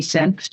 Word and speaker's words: Senft: But I had been talking with Amy Senft. You have to pronounce every letter in her name.